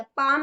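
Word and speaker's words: palm: वो साइलेंट नहीं है पाम में हम एल नहीं बोल रहे हाफ में भी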